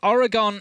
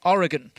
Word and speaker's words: Oregon: end for Outsiders between Oregon and I said that strangely. Oregon. I pronounced the on at the end a lot there, didn't I?